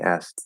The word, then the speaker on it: asked: he asked them uh i drop the k so it is more of he asked them he asked them uh